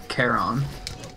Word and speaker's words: Charon: It seems to be Charon. Whatever, I said Sharon now, so that's just what it's gonna be, and I'm dead.